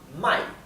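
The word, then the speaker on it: 买: Así que si quieren indicar comprar, tienen que pronunciar bien claramente el tono de la A. Mai, o sea, el tono es cae y sube.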